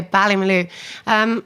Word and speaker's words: Ballymaloe: How did you then end up at, is it pronounced Ballymaloe? Oh yeah, Ballymaloe.